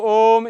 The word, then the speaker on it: ओम: इस ओम का शुद्ध उच्चारण ऊपर के अर्धचंद्र और बिंदु से ही संभव है, नहीं तो मात्र ऊ रह जाएगा।